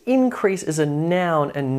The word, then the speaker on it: increase: But if you want to turn it into a verb and increase something, the emphasis or the syllable stress falls on the second syllable. Increase, increase, increase, increase.